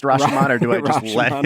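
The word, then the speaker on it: Rashomon: know just just a movie I enjoyed uh rash man was not great didn't didn't enjoy I love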